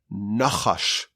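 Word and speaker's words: נחש: Eres nachash bein shinav, between its teeth. The poison, the venom of a snake comes from between its teeth. Now, what's the Hebrew word for a snake? It's nachash.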